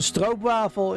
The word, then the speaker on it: stroopwafel: So stroopwafel is how you say it in Dutch. That's the Dutch spelling.